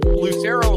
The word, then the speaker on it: Lucero: But it's Lucero like it's spelled. Like it's not real difficult. But when you run into people that want to, I don't know, make it a hard C, like a CH sound in the middle.